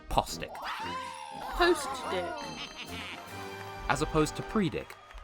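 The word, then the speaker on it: Postwick: Like how the first town in Pokemon Sword and Shield is spelled post-wick but pronounced postic.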